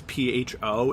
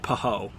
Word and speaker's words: pho: is a Vietnamese noodle soup dish and it's pho if you've ever seen their oh if you've ever seen it written on like a restaurant or a menu it's pronounced fun not like pehoe because I've heard people say yeah yeah yeah